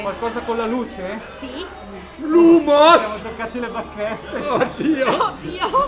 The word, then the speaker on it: Lumos: Ragazzi, state attenti con la pronuncia. Tutto attaccato l'humus. Lumos.